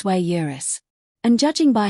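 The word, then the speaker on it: sui juris: It's not sujurus, it's swayurus.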